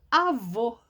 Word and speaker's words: avô: O acento agudo, ele é aberto. Avó. O som do acento agudo deixa a palavra, é como se a palavra ficasse aberta, ó, avó. A segunda aqui está com acento circunflexo. O som dele é fechado, ó. Avô. Então, agudo, avó. Circunflexo, avô. Tá vendo? Avó aberto, avô fechado. Então, olha que coisa mais interessante.